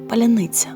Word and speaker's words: паляниця: хліб випечений у печі після початку війни слово Поляниця стало символом оскільки російські окупанти не могли вимовити його правильно це слово стало шибулетом за яким можна відрізнити друга від ворога робоча Ксенії мілицька